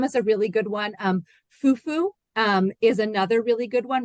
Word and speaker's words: fufu: And again, that some of the times you can hear in West African languages, fufu, the accent is on the U part. So there's in a lot of West African languages, there's an accent. If there's a multi-syllable word, the accent is on the end of the word.